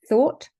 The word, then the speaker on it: thought: Take, for example, these 4 words: thought, thorough, tough, and through. They each have the letters O-U-G-H in them, but each one is pronounced differently. Thought, the pronunciation is or.